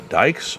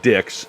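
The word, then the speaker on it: Dychs: yourself oh my god is that fonda dykes or fonda dicks it didn't make any difference it was pronounced dicks if you said dyke she got mad and corrected you uh so yes uh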